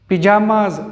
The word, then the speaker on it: pajamas: Pronunciation में भी थोड़ा सा फ़र्क है, ये पिजामाज और ये पजामाज।